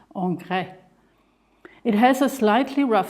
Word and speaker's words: Ingres: I've prepared I have Ingress paper which actually is a French name and would correctly be pronounced Onre it has a slightly